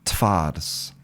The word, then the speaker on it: twarz: So, if you listen to, you know, Polish people when they're speaking normally, they'll say twarz. Twarz. So, the v v becomes f.